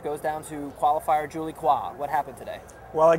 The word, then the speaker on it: Coin: down to qualifier Julie qua what happened today well I guess Julie qua or Julie coin as her name is spelled in Anglo is coin of the